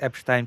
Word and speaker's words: Epstein: YouTube chat said, theoretically in the YouTube chat said, correct Epstein pronunciation, Lucy. Yeah, I pronounce it in the Polish Jewish way. Yeah. Yeah. Like, you say Einstein, right? You don't say Einstein.